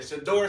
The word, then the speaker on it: Shedeur: Hey, forgive me if I'm saying his name wrong, but it's Shador, right? Mhm. Okay, I said it right. Look at your boy My TV getting up there. Shador Sanders, bro.